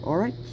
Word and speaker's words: Orach: And that back there, that colorful stuff, I don't know if I'm pronouncing this correctly, but Orach or Orach. It's O-R-A-C-H.